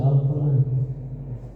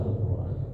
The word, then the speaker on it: Al-Quran: Al-Qur'an a-nya di pindahkan harakatnya ke ro alquran ya.